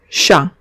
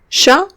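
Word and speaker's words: chat: preparados empezamos en francés en general la consonante final no se pronuncia ejemplo chau chau significa gato no pronunciamos la tensa no pronunciamos la eti porque es la consonante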